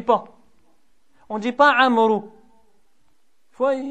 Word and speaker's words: عمرو: On ne dit pas Amr, on dit Amr.